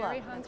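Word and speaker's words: Cheri Honkala: your vice presidential running mate, that is it Sherry Hankala? Sherry Hankala, right. I wanted to pronounce that right, so welcome.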